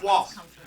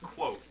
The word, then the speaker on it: quoth: Quoth, not quote.